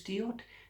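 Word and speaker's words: Deot: Or it's Diot. It's D-O really because it's French. You see, D-E-O-T, and it's French, and you don't pronounce the T at the end.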